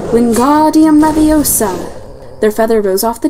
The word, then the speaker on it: Wingardium Leviosa: "Wingardium Leviosa," he shouted, waving his long arm like a windmill. "You're saying it wrong." Harry heard Hermione snap. "It's Wingardium Leviosa. Make the gar nice and long."